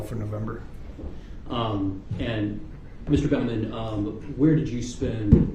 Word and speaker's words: Bauman: woman um yes my name is David Bauman phonetically b-a-u-m-a-m Bravo Alpha uniform Michael for November um and Mr Bowman um where did you spend the last 27